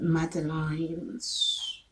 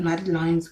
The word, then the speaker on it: madeleines: Now it brings us to madeleines, which is spelled MADELEINES.